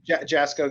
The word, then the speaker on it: Jasco: that you work for uh how do you pronounce it is it jasco jsco yep jasco games co you have an incredible library of